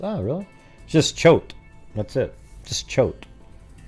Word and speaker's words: Choate: it's oh really just choked that's it just choked c-h-o-w-t is what they have okay right there look choke yeah like boat that's what i just